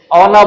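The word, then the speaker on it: honour: S silent रहता है, तो इसको क्या बोलते हैं? ऑनर बोलते हैं।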